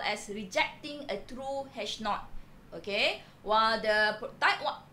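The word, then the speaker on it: H₀: The usual notation that we use is hash O, but we pronounce somehow as hash naught.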